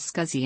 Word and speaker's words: SCSI: system interface which better intended to be pronounced sexy but and Estelle Allen pronounced the new acronym as scuzzy Annette stock a number